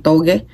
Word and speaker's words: toge: ng taugi na lumpia taugi sa Bisaya togi sa Tagalog ba yun ang pronunciation sa Tagalog correct toge to sa Pab y